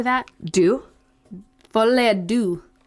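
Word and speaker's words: deux: first theory is how do you say that do volley do right yeah d-e-u-x yes it's french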